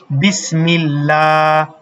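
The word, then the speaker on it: بسم الله: বিসমিল্লাহ।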